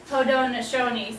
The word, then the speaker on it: Haudenosaunee: But when they talk about themselves, they actually call themselves the Haudenosaunee, so it doesn't look like it's spelled, but that's what they call themselves, which means people of the Longhouse.